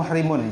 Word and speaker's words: muhrim: Nah, wahwa muhrimun. Jadi bacanya itu muhrim.